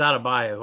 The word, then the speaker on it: Adebayo: Yeah, I mispronounced his name. It's Adebayo.